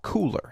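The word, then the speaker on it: Kuler: may I suggest cooler now it's spelled k l e R but it is called cooler as in hey it's cool what is it well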